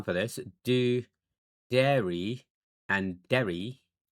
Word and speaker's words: Derry: Or there's a place in Ireland called Derry because you're pronouncing the double R. That's the difference. It's not dairy and dairy. It's Derry.